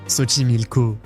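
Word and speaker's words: Xochimilco: On commence par Ximilko, un endroit très spécial avec un nom à la prononciation surprenante. Soimilko, c'est un réseau de can construit à l'époque des Astecs.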